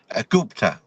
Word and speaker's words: Gupta: Gupta.